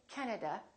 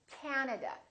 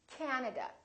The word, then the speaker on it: Canada: and also Three A's this time the first syllable is stressed this time this a is really long so don't say Canada say Canada Canada so you need to